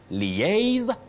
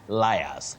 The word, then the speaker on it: liaise: So you say liaise, not liars. Okay.